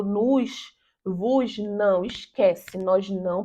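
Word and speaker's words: nous: né então no voo observação que em francês nós não pronunciamos s no final da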